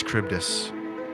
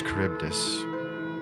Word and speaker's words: Charybdis: The note is simply read, "The Magnus Charybdis knows." Cryptus or Charybdis. Magnus Charybdis. with a T? No, I'll spell it for you.